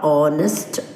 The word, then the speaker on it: honest: H silent words are honest, honor, aghast, echo, and anchor. These are some of the words that have H silent. We do not pronounce the sound H.